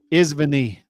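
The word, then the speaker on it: извини: It's Izvini.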